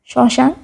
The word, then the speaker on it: শ্মশান: শব্দের প্রথম বর্ণে ম ফলা থাকলে সেই বর্ণ উচ্চারণের সময় ম এর উচ্চারণ অ এর মতো হয়, যেমন শ্মশান। এখানে ম উচ্চারিত হয়নি, ময়ের জায়গায় উচ্চারিত হয়েছে অ।